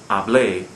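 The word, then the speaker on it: hablé: a verb form like ablae same same problem here the word when it's pronounced correctly i spoke ablae stresses the final syllable although it ends in a vowel so it violates rule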